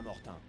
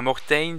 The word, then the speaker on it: Mortain: lignes de front à Mortain. Nous allons relever la compagnie Dog qui tient la colline 317. Le lieutenant Conti prend le commandement. Bon, c'est pas Mortain, c'est Mortain, excusez-moi.